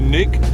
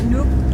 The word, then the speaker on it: Nuuk: Oh yeah, one of the things we found out last night, so we flew into Nuuk, is that how you pronounce it? Yeah, Nuuk. Nuuk.